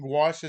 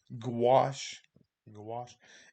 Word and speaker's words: gouache: making these small color studies of gouache and gouache is an opaque watercolor i'm going to pronounce it for you you don't need that gouache wash and so when we think about watercolors very